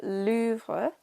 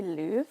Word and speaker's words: Louvre: I always used to say Louvre because that's what Americans say, and then a lot of the English people I know say Louvre. I feel like it's Louvre, like Louvre.